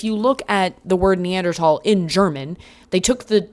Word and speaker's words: Neanderthal: Um, it's Neanderl.